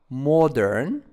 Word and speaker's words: modern: Modern, modern, egg-shaped, egg-shaped, egg-shaped. Continent, continent, continent. As you see. Place of interest, place of interest, place of interest. Modern, the stress is on the first syllables, modern. Egg-shaped, here the stress is on the first syllables.